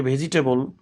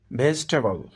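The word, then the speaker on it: vegetable: ভেজিটেবল, এটিকে অনেকে ভেজিটেবল উচ্চারণ করে থাকেন, সঠিক উচ্চারণ হবে ভেজিটেবল।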